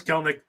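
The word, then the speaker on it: Kelenic: But he had a little thing where it's like, no, it's Kelnick.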